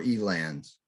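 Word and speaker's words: Eland: his name is Ivan Elon is that the proper pronunciation or e-lands Elan yeah okay I tried to give you a little French feel there there you go and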